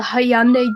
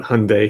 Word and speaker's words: Hyundai: yeah we pronounce that hyundai here i don't know i don't think we pronounced the y wow okay hyundai like it's like a sunday like like from mcdonald's